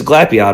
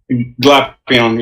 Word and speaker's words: Glapion: I think, did you pronounce it wrong? It's Glapion, right? Glapion, yeah.